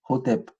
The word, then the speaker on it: Hotep: Et donc, on va aussi rajouter des voyelles pour pouvoir le vocaliser Hotep.